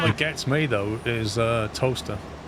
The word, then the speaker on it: Towcester: Towcester. It's like Towcester, and it's Wait, pronounced yeah, and it's Yeah. pronounced toaster. Toaster.